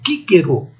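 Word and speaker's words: Cicero: Este nome de homem, a pronúncia reconstituída é assim, Quíquero. A letra C, mesmo seguida de I ou de E, é o som Q.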